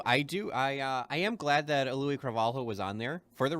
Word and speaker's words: Cravalho: Oh, and by the way, though, it is Cravalho. That's because The Rock was pronouncing it the way you are, Phil, and she corrected him.